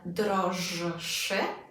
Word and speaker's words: droższy: So what's going to happen in wyższy and droższy is that the rzet z kropką is going to become unvoiced. So rather than droższy, droższy.